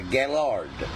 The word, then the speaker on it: Gaylord: When you hear the gay, it's not gay, it's a Gaylord. There's a different pronunciation, and it means strong, strength.